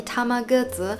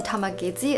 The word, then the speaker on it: Tamagezi: unboxing and playing the Tamagezi (pronounced as Tama-Guh-Zi), also known as the Tamagezi (pronounced as Tama-Ge-Zi).